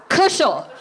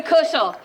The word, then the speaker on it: Kushell: It rhymes with Bushell. Kushell. So, there we go. Kushell.